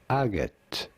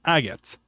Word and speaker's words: agate: wide variety of colors how do you go about pronouncing it in English it is usually said as agot okay aot aot okay that's how you pronounce it it's agot so who who wrote